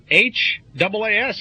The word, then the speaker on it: Haas: That's H-A-A-S is Haas, isn't it? How do you say Hayes? Haas. I say it.